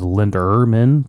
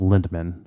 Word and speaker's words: Lindemann: for many many years I always thought there was an r in there so it was Linderman but I think it's just lindman lindman lindman yeah no